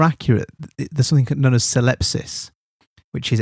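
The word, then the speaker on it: syllepsis: There's something known as celepsis which is s y l e ps i spsis.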